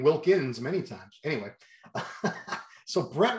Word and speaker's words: Wilkin: name wrong brett wilkin did you know it was wilkin i've been saying wilkins for the longest time wilkin wilkin were you